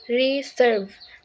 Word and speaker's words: reserve: the first for example in the word reserve the second syllable serve is stress not the first syllable re the rules of stress